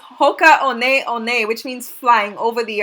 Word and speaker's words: Hoka One One: sold these shoes before the one one is actually pronounced on a on a says Hoka on a on a which means flying over